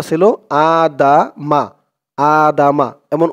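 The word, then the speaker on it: آدم: আদাম এখানে উচ্চারণটা ছিল আদা মা আদামা এমন উচ্চারণ ছিল কিন্তু এই চিহ্ন হতে অকফ করার কারণে মিমের উপরে জবরটা সাকিন হয়ে যাবে উচ্চারণ হবে আদাম দালের উপরে জবর দিয়ে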